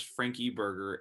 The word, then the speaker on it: Frankeberger: i pronouncing it's like i always go to say frankie burger because there's no n in it how do you like